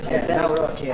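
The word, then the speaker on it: Nawrocki: Gave me a little different pronunciation. I said, I want to get it perfect. Did I get it right? Yeah, good. Nauraki.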